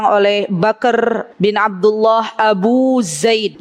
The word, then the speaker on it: Zaid: bakr bin Abdullah Abu Zaid ya Abu bacanya Abu Zaid ya jadi lisannya lebih ke Za Zaid ya ya Beliau memiliki buku